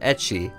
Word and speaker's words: ecchi: The term comes from the Japanese pronunciation of the letter H, pronounced ecchi.